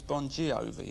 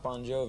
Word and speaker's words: Bon Jovi: So your actual name is Bon Jovi, isn't it? No, it's pronounced Bon Jovi. It's just the phonetics in Italian. The GI is the J sound.